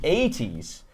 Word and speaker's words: ATEEZ: Anyway, so no, yeah, I think we're not pronouncing it right. Esther Park says ATs.